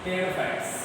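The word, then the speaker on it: Pteridophytes: टेरोफाइट्स इसमें P silent रहता है।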